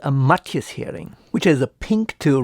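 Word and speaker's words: Hering: the German word for Herring is spelled with one R only and it's pronounced hearing not Herring so this Bismarck heading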